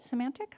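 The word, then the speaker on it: Symantec: Semantic?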